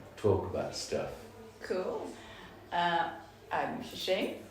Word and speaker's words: Tze Ching: I'm Tze Ching, like Eddie already said, and you pronounced it very well.